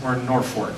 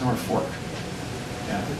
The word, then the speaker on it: Norfolk: It's Norfolk, right. This is Norfolk Is that because it's the North Fork of a river or. Yeah. So why the hell is this called Norfolk?